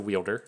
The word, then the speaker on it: Wielder: Not the Welder, it's a Wielder.